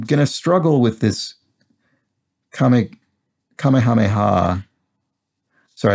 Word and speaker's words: Kamehameha: struggle with this comic kamehameha sorry i think i mispronounced that earlier i might have put two k's in it kamehameha i might have i'm